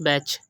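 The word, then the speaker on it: batch: English में समझते हैं पहले एक्जेक्टली हमारे पास बैच यहां पर हम देख सकते हैं जो की वावेल है और उसके बाद सी हा ए गया तो हमने 80 को साइलेंट कर दिया और इसकी प्रनंसीएशन हमने की बैच सेकंड एग्जांपल है कैच यहां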